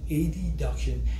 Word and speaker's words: adduction: muscles that perform hip ad duction I will use the pronunciation a deduction instead of adduction because it is easier to differentiate between a deduction and a duction compared to adduction and abduction a deduction is when